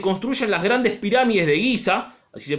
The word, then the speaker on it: Giza: Y cerca de ella se construyen las grandes pirámides de Giza, así se pronuncia, que pueden ver en la página anterior.